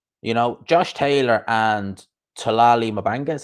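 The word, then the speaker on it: Thulani Mbenge: You know, Josh Taylor and Talali Mabanga is how you pronounce his name.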